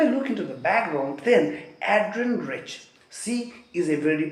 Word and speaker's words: Adrienne: Some people call her Adrienne, which is also right, but according to the right pronunciation, it would be Adrienne because there is double N. So N sound would little elongate. So that's the reason why we call it Adrienne.